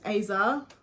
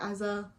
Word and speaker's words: Aza: girl know this follows Aza that's how I pronounce her name okay Aza as a I say ASA and she has OCD